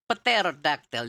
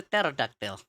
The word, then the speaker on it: pterodactyl: But you don't say pterodactyl. You say pterodactyl, right? Yeah, right. So yeah, the P is silent.